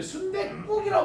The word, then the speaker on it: 순댓국: 자 다시 순댓국 얘기 좀 오는데 순댓국이라고 발음합니다. 그럼 표기를 어떻게 되느냐? 순댓국이라고 쓰게 되는 거예요.